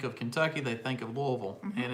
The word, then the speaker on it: Louisville: Because people think of Kentucky, they think of Louisville, and it's pronounced Louisville.